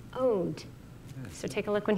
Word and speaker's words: Oud: How do you pronounce your instrument? Oud. Oud.